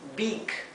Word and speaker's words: beak: Así que aquí tenemos que ser precisos en la pronunciación de la P y de la B, que en inglés son se pronuncian de forma más detallada que en español. Es peak o beak, ¿sí?